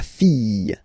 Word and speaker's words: fille: And then the feminine form, the daughter, la fille. Yeah, yeah, yeah, yeah, yeah. Okay, so this LL here and E will give you the sound Y, la fille, la fille.